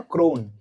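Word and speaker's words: krona: Swedish क्रोना फॉर $100 कैन you please tell me like how हाउ डू we pronounce it क्रोना और क्रोन?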